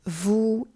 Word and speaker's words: vous: Notice also that the S on the end of nous, as well as the S on the end of vous, il, and elle, is silent because it is the final consonant on the end of a word.